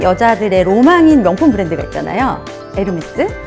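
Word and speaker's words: Hermès: 에르메스. 근데 에르메스를 누군가가 헤르메스 이렇게 발음하면 저 사람 발음 왜 저래? 이렇게 말씀하시잖아요. 그런 것처럼 에르메스의 H를 히읗이 아닌 이응으로 발음하는 것처럼 위블로도 위블로로 발음을 해야 돼요.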